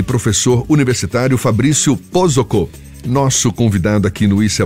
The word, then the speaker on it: Posocco: Pronunciei corretamente seu nome? Pozzocco. Quase, bateu na trave. Bom, eu estava aqui na Pozzocco, não, vamos falar corretamente. Fabrício Pozzocco, tá certo.